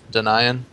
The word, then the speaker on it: Denian: Also, people actually pronounce it wrong. It's Denian instead of Denian, but people have said Denian so long that I actually don't know which is the right one anymore. It's just, if you think denial, then it'd be Denian, and that's why it should be pronounced in that fashion.